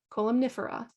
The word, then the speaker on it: columnifera: ratibita cholinifera retibita cholomifera we had the MN together it's in the middle of the word so we pronounce both of them columnifera okay it's not gem